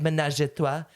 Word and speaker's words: ménage à trois: Ménage à trois.